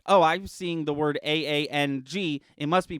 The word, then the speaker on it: Aang: it and be like it's pronounced aang and action it's just